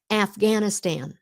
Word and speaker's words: Afghanistan: Afghanistan, the long A, the short A. Afghanistan. Afghanistan.